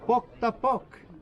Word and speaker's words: Pok ta Pok: The name of the game is pronounced with a P, and you say, repeat after me, Pok ta pok.